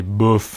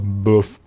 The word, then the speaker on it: bof: movie the other night buff okay buff am I getting the pronunciation you're getting it and you I can see the like the shrug of the shoulders as well do you put your lip out as well bof you can and then